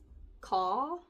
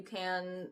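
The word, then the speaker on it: Khaw: This is by Cassandra Caw. K H A W. I believe it would be pronounced ca.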